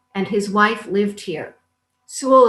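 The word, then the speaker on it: Soule: Sewell is spelled S-O-U-L-E.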